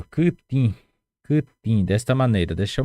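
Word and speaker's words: kytĩ: Dessa maneira, kutin. Kutin quer dizer cortar, cortar. Kutin, olhem só a pronúncia, kutin.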